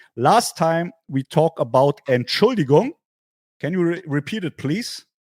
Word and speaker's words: Entschuldigung: Last time we talked about Entschuldigung. Can you repeat it, please? Here's how you spell it, or how you Entschuldigung.